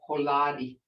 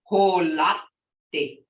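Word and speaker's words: holvtte: It ain't holadi, it's holati. Holati, because you got that double consonant, you got to pronounce both of them, and it may not be audible, but you can feel it.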